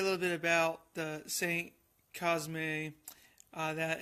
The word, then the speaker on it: Cosme: Today's wine will be a 2015 Saint Cosme. I think that's how it's pronounced, or it could be Cosme, but it is from the Cotes Du Rhone appellation.